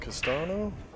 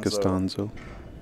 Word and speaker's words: Costanzo: Oliver and is it Castano? Is that how you say it? Costanzo. Costanzo are the winners of the A bracket, so they got to get beat twice.